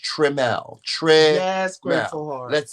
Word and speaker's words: Trimmel: my name wrong I don't like when people spell it wrong they say tremble or trimmel it's not trimmel tremel is t-r-i-m-m-e-l my name is just how it's pronounced tremel Tre yes let's say it together trim L